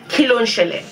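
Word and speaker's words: Kí ló ṣẹlẹ̀: I'm going to write it phonetically across the screen, not just how it's spelled but how you pronounce it. Kilon shele.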